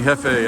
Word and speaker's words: Jefe: Pronounced like the J and jalapeno, right? Honey, honey hefe, that's Jeff.